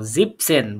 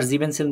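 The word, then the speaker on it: siebzehn: নাও এলফ তারপরে এটাকে কি বলবো আমরা নাও জিপসেন ভুলে আবার জিপেনসেন বলবেন না জিপসেন ঠিক আছে জিপসেন ওকে তারপরে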